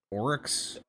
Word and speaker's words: Aurochs: So how do you say this? Is this the Oryx? Orox? Yeah, that's like Orox, that's sorry.